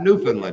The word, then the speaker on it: Newfoundland: get you newfoundland see i said it right newfoundland yeah newfoundland newfoundland i'd like to hear backwoods pronounced happy birthday i don't want to say